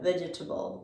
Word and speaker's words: vegetable: the same pattern here we see this second e and it makes us want to say veggie vegetable vegetable but this e would make that same schwa south of vega vegetable vegetable and it's not necessary to understand the word and it actually requires more effort to say it like that so the way english speakers actually say this is vegeta vegetable so the same way